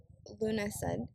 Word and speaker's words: Lughnasadh: preparation to action the Modern Irish way to pronounce Luna said is lunasa and the classical pronunciation is more